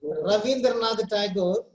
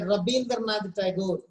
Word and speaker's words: Rabindranath: Instead of saying Rabindranath Tagore, you must pronounce it as a Rabindranath Tagore, not V sound, B sound.